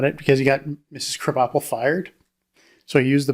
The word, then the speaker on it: Krabappel: What's creative about that name is it's crab apple. Yeah. And they just changed the pronunciation. Krabappel.